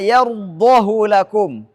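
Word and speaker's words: يرضه: Yang pertama hak dhamir pada kata yardahu lakum. Surah Az-Zumar ayat 7. Az-Zumar ayat 7. Walaupun diapit oleh dua yang berharakat tapi tidak dibaca silah. Tidak boleh baca panjang. Harus dibaca pendek. Yardahu lakum.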